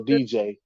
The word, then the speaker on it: Diijai: His name is spelled Diijai. So DJ.